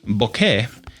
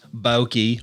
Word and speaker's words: bokeh: for on Earth but it's like okay except with an e at the end and a b up front Boke right it's not boki or B or B